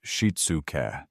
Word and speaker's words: shitsuke: The first pillar of the Japanese parenting blueprint is a profound concept called shitsuke, pronounced sheet-soo-kay.